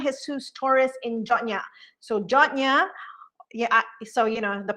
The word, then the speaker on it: Yona: you read it it's it looks like yona but here on guam we pronounce it that jonya so here in jonya